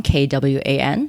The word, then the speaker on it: Kwan: me best place is LinkedIn my last name is spelled Quan k-w-a-n so it's Kwan and if you're curious